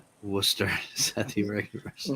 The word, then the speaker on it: Worcester: And so it's it's Worcester. It's how you pronounce it. There's no nothing no words end in R.